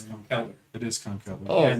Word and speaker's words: Conkeldurr: Conkeldurr? No, that's Girder. Girder. I think Girder is better than Conkeldurr. And I don't mind Conkeldurr at all. First of all, it's Conkeldurr.